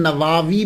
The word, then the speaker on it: نووی: گئی کہ امام نووی، اس کو نووی بھی بول سکتے ہیں، اور اس کا تلفظ پروننسیشن نواوی بھی ہے، یعنی وا کو لمبا بھی کریں گے، نواوی بھی اور نواوی، یہ دونوں جو ہیں وہ پڑھے جا سکتے ہیں۔ محرم الحرم میں آپ